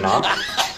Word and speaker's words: knock: spell the word knock spell the word knock n o c k knock no there's a k you don't see how just because you can't hear the K doesn't mean it's not there spell it with a K but when you say it pretend it's not there spell it say